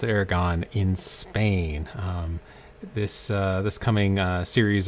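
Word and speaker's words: Aragón: I believe that's how you pronounce it, Aragon in Spain.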